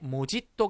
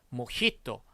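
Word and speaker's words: mojito: 모히또 보시다시피 제이를 써요 그런데 스페인어 단어 기 때문에 뭐지 또 가 아닌 몫이 또 라고 발음을 해 줘야 되요 그런데 우리가 모히또 라는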